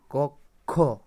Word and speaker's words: কক্ষ: যাবে খিয় হয়ে যাবে তো উচ্চারণে কি হয় খ বা ক খ ঠিক আছে তাহলে তোমরা এটা এক্সাম্পল কি আছে কক্ষ কক্ষ কক্ষ ঠিক আছে